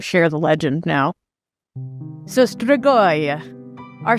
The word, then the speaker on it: Strigoi: And that is the Strigoi. The what? The Strigoi. The Strigoi? The Strigoi. So it's spelled Strigoi.